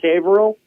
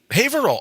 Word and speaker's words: Haverhill: Ville you go no just drop the H you'd say Advil all